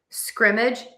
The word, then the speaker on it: scrimmage: Scrimmage. Scrimmage. Scrimmage. And as you can hear, I am stressing syllable number one.